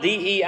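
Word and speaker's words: δεῖ: word for must is the Greek word d it's spelled Dei but it's pronounced d I know that's backwards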